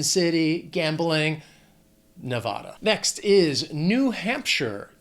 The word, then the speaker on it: New Hampshire: Now, that last syllable, it's not Shire. It's not like Frodo in the Shire. It's sure. New Hampshire.